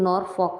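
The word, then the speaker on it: Norfolk: था नॉर्थ में था स्पेलिंग तो नॉर्थ बनती है इसकी लेकिन नोरफोक बोलते हैं इसको ठीक इसमें दे एंड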